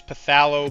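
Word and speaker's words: phthalo: because that's how excited I am to use pthalo blue which Wilmar told me that's how you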